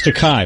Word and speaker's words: Takei: on the satellite George teay is a it's teai by the way it's te rhymes with okay he'll explain to you